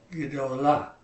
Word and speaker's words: gedolah: For the other 3 forms, we're going to shorten that first syllable. We're going to try and keep it as close to 2 syllables as we can. Feminine singular is gedolah. Masculine plural is gedolim. Feminine plural is gedolot. We're trying to shorten the word.